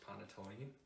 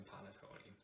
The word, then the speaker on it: panettone: make panettone bread now there are many different ways you can pronounce ponatoni it's ponotone panatone but in my family it's always been panettone now let's get right